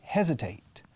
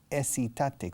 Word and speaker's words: hesitate: Don't hesitate. Se escribe hesitate con H aspirado al principio.